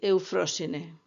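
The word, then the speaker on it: Εὐφροσύνη: Suele admitirse que los nombres de las cáites o gracia sean esplendor, alegría y alborozo, que en griego se pronuncia aglae, talía y eufrosine.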